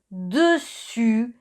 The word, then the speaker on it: dessus: Dessus es el sonido U. Y os recuerdo que para hacer un U empezamos pronunciando una I y luego ponemos los labios en círculo. I, U, dessus y dessous. U es el sonido U como la U española, dessous.